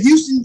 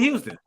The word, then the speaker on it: Houston: down south, we got it's spelled Houston, but it's called Houston County. But if you come down there saying we're in Houston, Georgia, no, it's just Houston County. Oh really? Oh, it's called Houston.